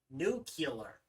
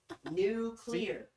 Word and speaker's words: nuclear: this one right here New Killer it's nuclear thank you thank you very much thank you nuclear no it's nuclear not nuclear nuclear new clear nuclear even your brother